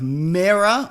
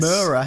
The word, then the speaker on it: Mera: We got a photo this week of Mera or Yes. Mera. How do you say it? I say Mera? Yeah, I say Mera as well.